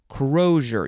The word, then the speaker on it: crosier: here it is i skip right over it crozier yeah that's how you pronounce it that's all i wanted to know